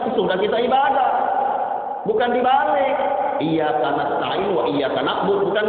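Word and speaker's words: إياك: Iyyaka na'budu wa iyyaka nasta'in. Maka bacanya yang benar bacanya. Iyyaka, pakai tasdid. Iyyaka, hanya kepada Engkau ya Allah. Jangan iyyaka artinya matahari.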